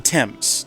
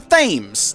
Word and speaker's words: Thames: The Thames, not the Thames, even though that's how it's spelled.